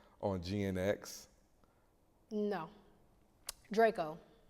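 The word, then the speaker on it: Drakeo: Draco. Not Dracio. I said it wrong. Draco the ruler. Draco the ruler. People from the South be calling him Dracio, which I get. It looks like that. It's Draco. Okay.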